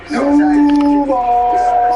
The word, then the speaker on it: Duval: So am I pronouncing that correctly? Duval!